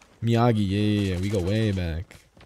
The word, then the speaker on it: Miyagi: Miyaga? Miyagi, yeah.